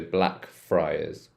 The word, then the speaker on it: Blackfriars: So this one's Friars. Friars, so Blackfriars.